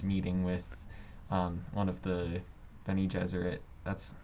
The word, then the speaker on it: Bene Gesserit: where Paul is meeting with one of the Bene Gesserit. That's how you pronounce it, right?